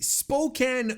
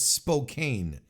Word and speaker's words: Spokane: I apologize Spokan but I always thought it was Spokane and doesn't that make more sense to to to pronounce it that way I mean if you look at the word SP o k NE e like your first instinct is to call it Spokane right it's as opposed